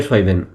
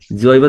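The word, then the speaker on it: Zwiebeln: লাল পেঁয়াজকে বলে রোটে সয়বেন। তো সয়বেন যেটা আছে, আমি রুট। তো জেড, জেড ছিল তো আমি বলতাম রোটে জইবেন। জৈবেন হ্যাঁ হ্যাঁ।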